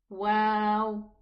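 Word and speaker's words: واو: This one, it's an easy one, but the name of the letter is wow. Wa, not wa, okay? So it's the name of the letter is wow.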